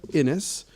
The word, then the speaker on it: Innes: Soft, sweet, feminine sounds of Innes rhymes with Guinness.